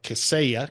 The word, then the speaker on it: Kaseya: And now as GM of TruMethods, which is a leading IT company and cybersecurity firm of Kaseya. Kaseya is how you pronounce it, right?